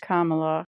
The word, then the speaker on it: Kamala: White Lady, why not Kamala? Pronounced Kamala, rhymes with Mamala.